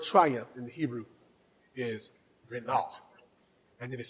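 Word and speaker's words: רִנָּה: The word triumph in the Hebrew is renah, and it is spelled R-I-N, N-A-H, R-I-N, N-A-H.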